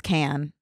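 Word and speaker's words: Cannes: of of crap I can never say the word cans is it can I think it's can can yeah c a n n e s silent s always gets me I think it's can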